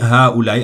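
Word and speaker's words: هؤلاء: J'ai bien dit ha ou la i alors que j'ai écrit ha. Souvent ça s'écrit comme ça, mais il faut le lire ha. Il y a un alif ici pour le prolonger.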